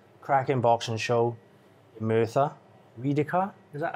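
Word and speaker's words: Rhydycar: Riedekar, is that how I pronounce it? Riedekar Leisure Centre. Yes, got it this time. Riedekar Leisure Centre.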